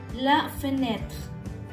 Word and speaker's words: la fenêtre: En francés, la fenêtre. No se pronuncia la última E.